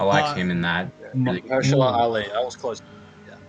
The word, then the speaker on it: Mahershala: Really Mahershala Ali. I was close. Yeah. Mahershala Ali.